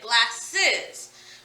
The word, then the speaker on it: glasses: We say glasses. We add the E to actually create another syllable by adding another vowel sound. It breaks up the way the word is ending.